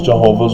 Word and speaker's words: Jehovah: do you understand why jehovah's witnesses call themselves jehovah's witnesses but they are wrong in the sense